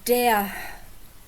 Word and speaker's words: der: So, it's der Ball. You don't actually pronounce this R because it's at the end of a word or at the end of a syllable.